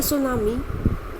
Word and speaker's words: tsunami: अ सुनामी is a very large and powerful wave caused by earthquakes under the sea। तो सुनामी जो है, tease को silent रखना है आप लोगों ने।